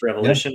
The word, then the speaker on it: rEvolution: pronounced revolution?